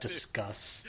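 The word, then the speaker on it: Disqus: like barely functioning right Pronounced discuss. Yeah, I don't care. It's disquous.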